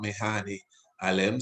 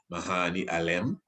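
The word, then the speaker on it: Medhane Alem: so you have bete medani or mehani alem samse medani some do not pronounce the d mahani alem which means savior of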